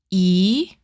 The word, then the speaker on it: ㅣ: Your mouth is a bit open and your tongue touches just behind your lower front teeth. Say it with me. E E.